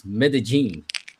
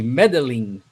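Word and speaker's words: Medellín: We just learned how to pronounce Medigene because here in Brazil, we always say medeline and and now we we learned how to speak medigene.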